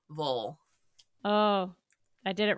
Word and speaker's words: Louisville: pronunciations of louville but if you're from here you say Lille Lille Lille oh I did it